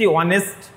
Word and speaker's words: honest: আবার দেখো HONEST অনেস্ট, HONEST হনেস্ট নয়, কিন্তু আমরা কিন্তু হনেস্ট উচ্চারণ করি না, HONEST এটা কিন্তু উচ্চারণ হয় অনেস্ট, অনেস্ট।